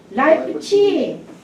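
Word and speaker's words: Leipzig: 어떤 일이 있었냐면은 그 라이프치히예요. 지금 발음이 좀 독일 발음이에요. 라이프치히. 오리지널 발음으로.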